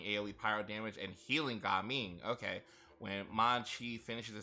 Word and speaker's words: Gaming: All right, let's try Gaming. I'm really glad that I was right on how they pronounce that name. I was like, I seriously doubt it's actually pronounced gaming. It's probably pronounced Gaming.